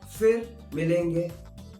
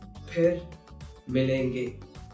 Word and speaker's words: फिर मिलेंगे: So, if you hear someone saying fir milenge, that is incorrect. The correct pronunciation is phir milenge. I know it might be tough, but if you're learning it, learn it right way. Phir milenge instead of fir milenge.